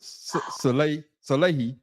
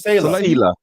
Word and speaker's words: Saleh: So, is Aaron Rodgers responsible for Robert Salehi firing? See, Your thoughts? now you're making me mispronounce it. Okay, pronounce it right. It's Salah. Sela. Robert Sela. Sela.